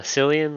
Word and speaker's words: Cillian: you spell that uh cilian like silly and murphy the actor c-i-l-i-a-n last name zyrosian z-y-o-r